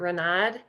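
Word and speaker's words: Ranade: Our next speaker is Ranad. Did I get your last name pronunciation correct? Yes, that's right.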